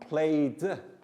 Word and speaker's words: played: going to be about the final e d sounds with verbs and the three different ways we pronounce it walked like a t painted like i did and played just like the d so what we'll